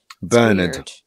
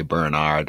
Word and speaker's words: Bernard: like costume that's like Bernard Americans say Bernard I don't know why but well because there's an a it's not b e r d it's b-e-n-r-n-a-r-d says it's Bernard we've created English yeah